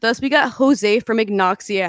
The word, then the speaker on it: Agnoxia: to actually pronounce it but ignoxia is the what i decided to to that sounds good so i decided that that's going to be the way it's pronounced it was between that